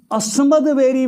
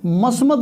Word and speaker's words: अस्मद: तो एवमेव त्वया कार्यम अस्मद्वैरी विनाशनम उच्चारण उसका इस तरह से हो जाएगा। दरअसल संस्कृत में मस्मद नाम का कोई शब्द ही नहीं है, शब्द है अस्मद।